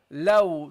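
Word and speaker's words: ل: And we got then the lam, low. Don't make this heavy. Don't say low. Light, okay? Just let your tongue rest, okay? Low, okay?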